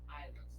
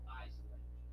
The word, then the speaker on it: island: Yeah, you say islands. Let's just pay attention to the way that we pronounce these words. Okay? Island. Okay? Island, not Iceland or Iceland. Island. Okay? The S is soundless.